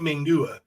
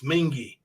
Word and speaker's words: Mingy: That's how you pronounce that. It ain't Mingua. It's Mingy.